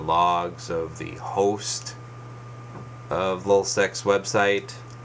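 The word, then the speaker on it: LulzSec: of L seex website now I'm saying l u l z s e c by the way so I may be pronouncing it oddly it's l just getting it out there if you're not familiar so you know I'm not mispronouncing it or saying something else but they figure out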